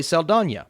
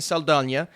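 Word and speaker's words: Saldaña: I was thinking they would have had Zoe Saldana. By the way, I'm going to start saying Saldana.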